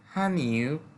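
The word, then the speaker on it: 汉语: বা পড়া এরপরে হচ্ছে হানিউ চাইনিজ ভাষা উচ্চারণটা হবে হান ইউ এই ইটাকে একবারে হালকা করে বলে নরমালি যদি আমরা এই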